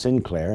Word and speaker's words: St. Clair: The St. Clair family of France is pronounced Sinclair in England.